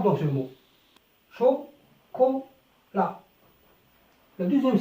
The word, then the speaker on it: chocolat: Célia mange un gâteau au chocolat.